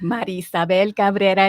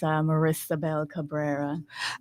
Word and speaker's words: Maria Isabel Cabrera: natural for me, but Maria Isabel Cabrera is how you would say it properly. For folks who don't speak Spanish, I tend to give them an English version, which is Marisabel Cabrera.